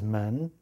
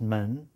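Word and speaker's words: 门: Like, for example, this is men, the gate radical. Means gate or doorway, even looks like a doorway. But when you add the side man radical to it, like so, it's still pronounced men, which is a sound loan from the previous character.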